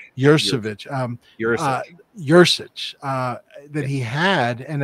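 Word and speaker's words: Yuricich: I think that's part of the incredible skill that, how do you pronounce his last Matthew name? Matthew Jurasich. Jurasich.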